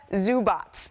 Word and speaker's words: Zubac: I love a a clever uh defensive player of the year campaign pronounced Zubots.